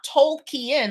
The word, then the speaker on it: Tolkien: that they were calling jrr token not told kian like his name his spell his name is spelled t-o-l-k-i-e-n but they were coming